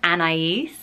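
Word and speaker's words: Anaïs: way I like it anyway the name is Anais and I is and is and is and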